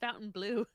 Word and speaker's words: Fontainebleau: W, it's just Fountain Blue. Fountain Blue. The way they spell it, I like to say Fontainebleau. It's my Pat McAfee.